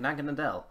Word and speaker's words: Naganadel: I mean, Naganadel, no, I said it right, Naganadel would be pretty much 100% broken in a League format, I feel.